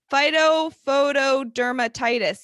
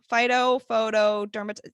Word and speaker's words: Phytophotodermatitis: Phytophotodermatitis. Yes, it is a thing, guys. That is the name of it. Phytophotodermatitis.